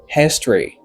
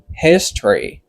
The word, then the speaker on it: history: En anglais c'est history. Qui veut dire histoire. Ouais, c'est history. Ok, let O pas prononcer. M'pa dire c'est history. No, c'est history.